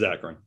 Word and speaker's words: Zakarin: We're talking now about Superhero Diaries with Scott Zakarin, who I finally got to pronounce his name right after a year and a half of knowing the man. And I still got it wrong. It's Zakarin. Zach, see?